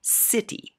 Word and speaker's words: city: For example, when the next letter after C is I, E, or Y, then the C will sound like S. S in a word like city, because the next letter is I.